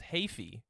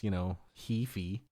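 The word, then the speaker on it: Heafy: His last name is Hafey. Oh, is it Hafey? Hafey. Oh, I mean that makes sense with how it's spelled, but I guess Hefey. But I think pretty much everybody says Hefey.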